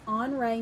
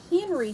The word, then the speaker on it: Henri: our artist for this so our artist is hre ma and he was a famous artist from France so when you look at his name it may look look like Henry to you Henry with an i that's his